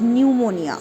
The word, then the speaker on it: pneumonia: So when pn comes together or ps comes together, the p is silent. Like the word pneumonia or psychology.